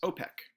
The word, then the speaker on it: OPEC: Most people recognize these countries, typically in the Middle East, as OPEC. So there's another one, O and then the word PEC, because we actually use the word in order to understand the acronym.